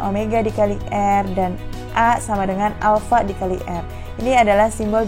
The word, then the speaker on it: alpha: dikali r&a sama dengan alfa dikali er ini adalah simbol dari percepatan sudut yaitu Alfa bacanya ya atau alpha lanjut kita bahas posisi